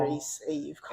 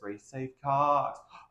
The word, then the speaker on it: Reese Eve Cocx: I mean, I always tell everybody you gotta say it with a deep Southern drawl. Reese Eve Cocx. And say it like you're trying to do something. Say it's Reese Eve Cocx.